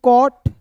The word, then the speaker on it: cot: नियम एक बार और समझ लीजिए कि किसी वर्ड्स के बीच में ओ दिखेगा तो ओ का उच्चारण औ के रूप में।